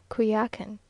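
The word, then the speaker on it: Coyoacán: in the morning to kakan now pronounced kuyakin which is almost a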